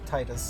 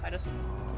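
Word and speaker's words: Tidus: I will always remember Seymour's name because Titus, he or if you pronounce it, I guess, Titus. correctly, Titus. It's Titus.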